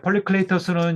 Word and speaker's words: 폴리클레이토스: 그리스 옛날 그 발음으로는 이런 식으로 됩니다. 폴리클레이토스.